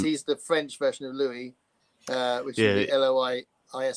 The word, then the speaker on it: Louis: the French version of Louisie, uh which would be Liis. So people go Lewis and you go, "No, it's Louis."